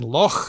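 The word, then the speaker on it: loch: I'd also add that ch instead of gh such as in lo meaning lake is now basically the only way is rendered we Right. Nicked night thought, etc. With the uvular fricative, not cough though, that's just cough.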